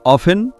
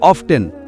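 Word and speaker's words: often: শব্দটির উচ্চারণ কিভাবে করবেন কেউ বলবেন অফেন অফেন কেউ বলবেন অফটেন অফটেন আগে এটি ছিল অফেন তারপর এটি অফটেন হলো এখন নতুন মানুষেরা বলছে অফটেন সঠিক এখানে টি সাইলেন্ট বা অনুচ্চারিত নয় এটি উচ্চারণ করা উচিত কেউ বলে টি সাইলেন্ট এবং তা নিয়ে বড় বিতর্ক হয় কিন্তু আমরা বুঝতে পারি না দুটোই যার যার জায়গায় সঠিক একইভাবে আমাদের যে চারটি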